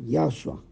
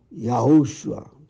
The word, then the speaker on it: Yahushua: filho de Yahweh, Yahushua, só que eu falei Yahshua, né? Falei um ou dois nomes um pouco diferentes, pronúncias. Novamente veio a voz forte e me disse o nome Yahushua, 3 vezes, bem forte.